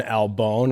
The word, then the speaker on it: Albohn: We're live at Castafari 26 with Kevin Albohn. Am I pronouncing that right? Yes, sir. Bone.